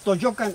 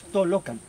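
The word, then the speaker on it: Tollocan: Lo vemos, Toyocan, los locutores lo dicen, pero está mal dicho. Es Tolocan. Es una L, son 2 L.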